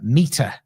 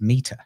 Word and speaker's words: METR: It's a research paper done by the Meter, METR, pronounced Meter.